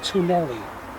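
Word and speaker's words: twneli: The fifth word means tunnels, it's tunnelli.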